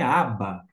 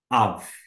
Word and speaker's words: אָב: exercício P em hebraico alguém vai dizer assim não é ABA não aba é um vocábulo aramaico e que é portanto um pouquinho diferente na sua pronúncia desta forma em arami aba mas nós estamos no hebraico bíblico Av Perfeito nós vamos avançar